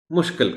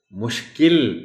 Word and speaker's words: مشکل: ختم ہی پڑھنا ہے۔ مشکل کہہ دیا جاتا ہے، بڑا آسان ہے مشکل کو مشکل کہنا، لیکن یہ بھی ایسا لفظ ہے کہ آپ بچوں کو ضرور یہ تلقین کیجیے کہ اس کو مشکل پڑھنا ہے، مشکل نہیں کہنا۔ طلباء کو مشکل الفاظ